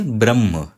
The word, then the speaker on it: ब्रह्म: इसको देखिए इसको हम बोलेंगे ब्रह्म तो यह तो सीधे दिख रहा है ब के साथ र जुड़ा हुआ है और यह आप देखिए तो यह क्या है यह ह है और ह के साथ म जुड़ा हुआ है तो ह के